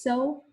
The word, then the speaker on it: sol: mi, fourth is fa, fifth is so, or just so. You don't need to pronounce the L.